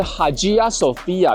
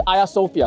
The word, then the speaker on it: Ayasofya: Sophia，它的英文发音是 Hagia Sophia，但是它的土语发音比较接近它古希腊文的发音，也就是 Hagia Sophia 或是 Hagia Sophia。